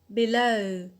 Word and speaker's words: below: is the adjective below below so here the stresses on the alt that is the the